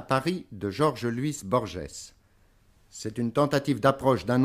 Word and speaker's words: Borges: En général, chez moi, on prononce Borges. Mais peut-être cette G offre quelques difficultés aux Français. Quand j'étais étudiant à Genève, tout le monde m'appelait Borges. C'est-à-dire, on lisait cela d'une façon phonétique. Alors, pour moi, c'est la même chose. La vraie prononciation, c'est une prononciation portugaise d'il y a deux siècles, ce serait Borges.